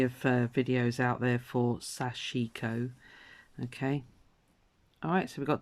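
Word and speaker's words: sashiko: I've been pronouncing that mispronouncing the word it's sachiko not sure she cuz I was saying it so it's Sachiko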